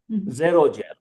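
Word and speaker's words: xerogel: dried gel which is called a zero gel. zero spelled with X zero gel.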